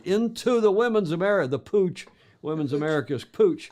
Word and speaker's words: Puig: I don't know how you get Pooch out of that. Well, that spelling, it's the way it works, and that is Catalan, not Spanish. Yes, okay. Puig, Pooch.